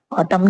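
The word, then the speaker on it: autumn: कहा जैसे एम ऑटम ऑटम यहां पे सिर्फ ऑटम पढ़ा गया है। जबकि एन भी आया है लास्ट में। ऑटम क्या होता है? पतजड़ होते हैं। जैसे ए यू टी यू एम एन। तो स्पेलिंग क्या है? एम एन। तो लेकिन क्या है? इसको ऑटम पढ़ा जाता है। एन को साइलेंट रखा जाता है।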